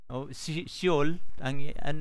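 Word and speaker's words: שְׁאוֹל: sa lingwahe ng mga Hebrew at ito ay binibigkas nila na Sheol, Brother Sheol, John.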